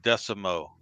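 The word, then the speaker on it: Desormeaux: raging cajun last name if you look at it the spell but it pronounces pretty easy it's michael decimo he has the parts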